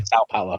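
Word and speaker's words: São Paulo: S Paulo.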